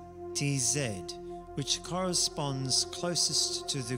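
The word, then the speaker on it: Tzaddi: that Inspire our communication study is pronounced as t zed which corresponds closest to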